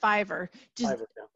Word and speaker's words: Fiverr: got some writing done on here so it's pronounced Fiverr yeah okay for a while they're actually a